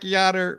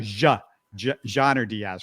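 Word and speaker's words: Yainer Díaz: gonna make that mistake if you look at it on paper for us uh anglos that's you know English speakers it looks like it's with a y That's how you would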